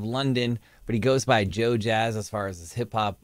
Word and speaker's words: JoeJas: I believe or just look up Joe Jazz pronounced Jazz not Jess Joe Jess and support him